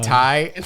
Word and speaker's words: Ti: trying to change it so now ti is now pronounced thai it's actually the the yeah the 1080 tie i mean this has been